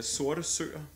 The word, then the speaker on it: Sorte Søer: Es heißt Sorte Søer, schwarze Seen.